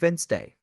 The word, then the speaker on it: Wednesday: land oh yes and Wednesday too people often pronounce every letter but it's actually Wednesday another tricky one is